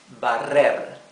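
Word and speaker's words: barrer: other verb is bar bar and here you have to pronounce the rough r okay the verb bar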